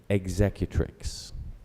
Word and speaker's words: executrix: couple of pronunciations executrix or executrix I would pronounce it executrix executrix executrix I have the language origin please